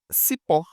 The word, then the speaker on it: cipó: Cipó, a mesma coisa, cipó. O pó é mais forte, tá?